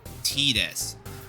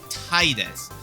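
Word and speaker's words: Tidus: consensus which is that uh his name is pronounced Tetus.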